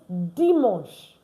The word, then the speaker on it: dimanche: And then the last one is not dimanche. No, it's dimanche. Dimanche. Dimanche. Dimanche. Why? Because AN is pronounced on in French.